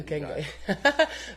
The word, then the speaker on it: Okenge: And Okenge. Did I say it right? Oh, yeah. Okenge.